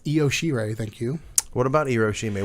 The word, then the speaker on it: Io Shirai: He doesn't know how to pronounce the women's names. Yeah. It's Io Shirai, thank you.